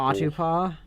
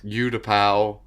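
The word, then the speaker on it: Utapau: No, Who mispronounces Udapow? I don't know. Some Udapu? weird. I've heard people. Autopaw before. I've heard Ute-pow and What? Udapow.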